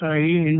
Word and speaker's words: Ayin: And he says, Ayin, pronounced Ayin with a slight nasal twang, which means the eye, referring to the eye of Shiva, said to be atrophied into the pineal gland.